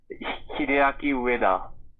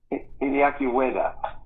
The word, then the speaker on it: Hideaki Ueda: today I'm very proud to have with me Hideaki Ueda. Say that for me, Hideaki. Make sure I pronounced it right. Hideaki Ueda. Hideaki Ueda.